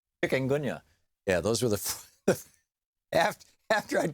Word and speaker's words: chikungunya: And, and I'll know in a week if I have malaria or Zika or dengue fever or chickamauga. Is that how you say it? Chikungunya.